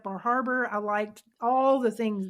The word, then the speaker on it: Bar Harbor: And I love I really like Bar Harbor. I liked all the things there. I think it's pronounced Bahaba, by the way.